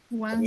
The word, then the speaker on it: Wednesday: এরপরে ওয়েনসডে, Wednesday.